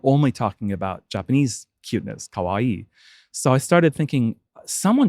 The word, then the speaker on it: kawaii: pronounce that word for kawaii kawaii it's like Kawaii with a K what is Kawaii uh